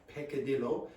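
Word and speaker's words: peccadillo: So h in English there is a word pecadillo. Okay. We pronounce it like that. Peekadillo.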